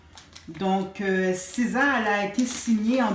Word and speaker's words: SZA: En fait, SZA, ça se prononce S-Z-A. Donc, SZA, elle a été signée en 2017 ou 2016 par le label Top Dog Entertainment.